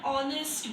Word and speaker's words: honest: An honest boy. H. Though it is consonant, its pronunciation is with a vowel sound.